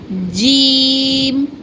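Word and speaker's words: ج: the middle part of tongue is touches the upper palate here and say touches the upper palate here and say jim, jim.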